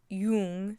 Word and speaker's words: Jung: okay the jungan theory the Yung I don't know how to pronounce his name correctly I always people pronounce it differently but I think it's Yung so the yian theory